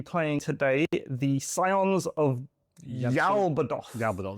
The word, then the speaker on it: Yaoth: I am going to be playing today the Scions of Yaoth. Ya. Yaoth, I think I think that's how you pronounce it.